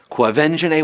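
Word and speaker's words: Quvenzhané: it's going to some of you right now quo venj na Wallis yes avenging a that's how you say her name avenge and a Wallis was all of nine years old when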